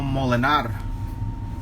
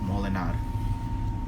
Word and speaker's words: Molenaar: Romano Molinar. There it is. It's spelled Molenaar. Romano Molinar.